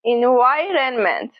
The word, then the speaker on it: environment: Then Y, a V sound, and the long I, as in my.